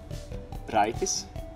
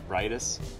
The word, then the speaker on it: Raitis: So in Latvian the R is a little different. So I have to go in my Latvian mood. Raitis. While in English it's Raitis, where the first sounds different.